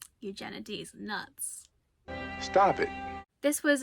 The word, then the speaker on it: Eugenides: recording Beauty and days it's eugenities eugenides nuts stop it this